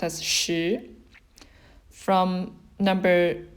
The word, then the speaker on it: 十: And it's pronounced as shi.